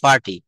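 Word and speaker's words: party: পার্টি না, এটা বলতে হবে ফার্টি, ফার্টি।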